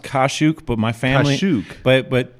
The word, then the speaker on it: Kaszuk: episode here of inside the box with kuzak is that how you say yourself we actually it's actually pronounced kashuk but my family but but my family though